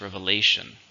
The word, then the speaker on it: revelation: is a countable noun how many syllables revelation 4 stressin third now you'll notice the pronunciation is very different reveal revelation his advice was a